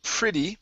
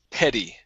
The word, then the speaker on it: petty: Next up is this here instead of pretty. This is petty. Okay, Petty. so without the R.